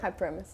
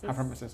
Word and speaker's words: hyperemesis: How do you pronounce that? Hyperemesis. Hyperemesis.